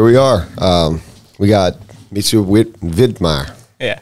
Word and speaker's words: Widmaier: So the last name, though, what got me was spelled with a W, but it's almost said with a V, like Widmaier. Yeah. Instead of Widmaier.